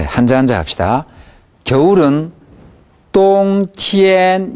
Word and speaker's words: 冬天: 겨울은 똥티엔 이게 아니라 똥보다는 티엔이 약간 낮습니다. 똥티엔 이 정도 됩니다. 똥티엔 이 정도로 발음합니다.